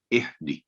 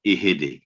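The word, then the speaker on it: اهدِ: تو صحیح تلفظ یہ ہے کہ اہدی، اہدی. لیکن غلطی جب اس میں ہوتی بعض دفعہ اہدے، تو یہ اہدے نہیں ہے کیونکہ ہا کے نیچے زیر نہیں ہے، کسرہ نہیں ہے.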